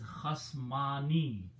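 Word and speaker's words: خصمان: If you put alif and noon with a kasra at the end and pronounce as khasmani, it will become the group of two disputers.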